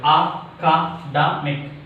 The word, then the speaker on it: academic: How many syllables are there? 4 syllables. Academic. Academic. Here, second syllable from the end, D. Its pronunciation is what is that? Academic. Academic. Academic. Is it clear? Academic. Academic. D is highlighted one.